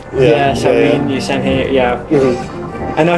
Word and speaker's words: Samhain: has his like his alter kind of like Samhain. However you pronounce it. He has his Samhain. Samhain.